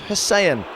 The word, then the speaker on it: Hysén: In Sweden, they pronounce it Tobias Hysén, although his first goal in English football looked good in any language.